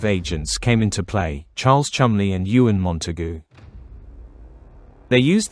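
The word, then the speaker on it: Cholmondeley: Charles Chumley and Euan Montugu. They used the idea with the corpse and improved it somewhat. Charles always said, "My name is Chamley," pronouncing it syllable by syllable. Charles Chamley.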